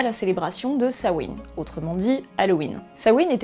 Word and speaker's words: Samhain: Samhain, oui ça s'écrit Samhain, mais la prononciation d'origine c'est Samhain, est un film réalisé